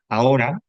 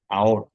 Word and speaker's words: ahora: la palabra ahora, AHO, la H es como si no estuviera, porque a la hora de pronunciarlo, lo que yo junto ahí es, al principio de la palabra, es la A y la O, ahora, ¿vale?